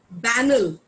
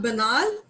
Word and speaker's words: banal: It's banal. Okay. It is banal, not banal, banal.